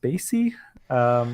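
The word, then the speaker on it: Spatie: one was this company I think they are pronounced Spacey they're in Belgium they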